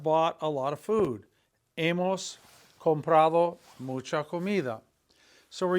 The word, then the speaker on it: hemos: In the present tense of it is has, hemos, han. Remember the H is silent. 2 steps to this process. Haber in the present tense, has, hemos, han.